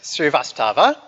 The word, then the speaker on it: Srivastava: Srivastava.